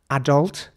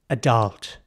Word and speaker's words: adult: in my opinion so in British English it's adult and in American English it would be more like adult so the focus is on a second half of the word not so much the